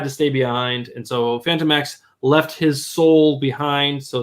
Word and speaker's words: Phantomex: Phantom is not spelled with an F, and I would think his name is Phantom X. It's Phantom X. Phantomex.